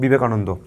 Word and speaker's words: বিবেকানন্দ: তারপরে দেখো বিবেকানন্দ, বি বে কা নুন দো, আমরা এইভাবে উচ্চারণ করি তো, বি বে কা নুন দো, ঠিক আছে।